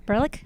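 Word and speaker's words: Berelc: Berlick. Yes. How do you say how do you see your name? Berick. Beric. Berick. Okay. Berick. Her name is very hard to pronounce.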